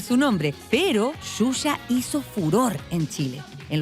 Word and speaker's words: Xuxa: Ella cautiva, atrae con absoluta espontaneidad y su nombre se pronuncia en Brasil de una manera muy singular. Se llama Xuxa.